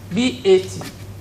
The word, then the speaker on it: bat: The fourth vowel sound is pronounced as A. It's a short sound because there's no 2 dots after it. A, B-A-T, bat. Bat. It's very common in our language, but the way we produce it is quite different from the way English speakers use it.